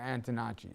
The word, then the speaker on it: Antonacci: um right now tan DiNapoli is there this poll was put out before the his opponent was announced here antonacci am I saying it right yeah thank you